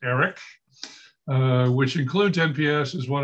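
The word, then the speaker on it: AIRC: i discussed dod's new acquisition innovation research center pronounced eric which includes nps as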